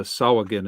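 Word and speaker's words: Sahuagin: Omanel says the Sawagin is the correct pronunciation. I'm going with the Kaoland inflection from my world, so I'll say with the G. But I'm not disparaging the hard G. I just prefer the soft G.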